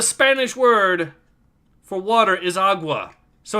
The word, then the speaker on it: agua: it's, and I quote, aqua, which is not even how you pronounce the word. It's agua, I'm pretty sure, right? Or no, it's... Yes, it is agua.